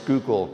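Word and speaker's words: Schuylkill: so uh you know someone from Pennsylvania when then when they pronounce skookul correctly um I happen to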